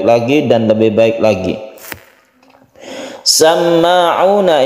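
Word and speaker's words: سَمَّاعُونَ: Samma'una ini adalah tasydid mim yang kita kenal dengan gunnah musyaddadah. Gunnah karena dia itu bertasydid, kita dengungkan membacanya, kita tahan ketika dia itu bertasydid.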